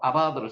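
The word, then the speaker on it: עבד: 요 짝대기는 한 개가 있든 밑으로 커져 있든 간에 이거는 다 아 발음이 난다고 했습니다. 여기는 긴 아 발음이 나고 이건 짧은 아 발음.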